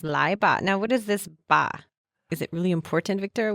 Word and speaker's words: 吧: And the ba just is a neutral tone. So it's pronounced very lightly.